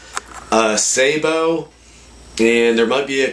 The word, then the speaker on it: sabot: grain Sabo and again you're gonna have people that call it a sabot Sabo and there might be